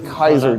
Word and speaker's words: Caesar: The reason that battle took place is because of what a guy named Gas Julius Kaiser did. You guys incorrectly call him Julius Caesar.